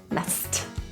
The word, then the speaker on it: messed: The S-S-E-D is pronounced as st, S-T, messed.